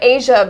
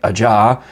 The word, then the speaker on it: Aja: aj well yeah because i don't think a lot of people realize that in asia by steely dan is spelled aj a because you look at it and looks like ajah or ajah exactly or any number